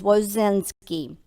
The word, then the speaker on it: Wozinski: The way I pronounce it is Wozinski.